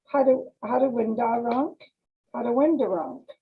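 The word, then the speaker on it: Haudenosaunee: of the first nations as the hadawindar rank that is the correct pronunciation the whole nishoni and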